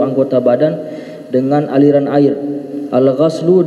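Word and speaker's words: غَسل: Al-ghaslu dengan membacanya dengan fathah, ismun li ghasli ba'dil a'dha, yaitu suatu nama untuk basuhan sebagian anggota badan.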